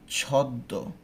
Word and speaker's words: ছদ্ম: ছদ্ম, আমি কিন্তু এখানে ময়ের উচ্চারণটা করি না, আমরা কি বলি? ছদ্ম, দুইটা দ, হ্যাঁ, দয়ের দুইটা উচ্চারণ করে দিত করি।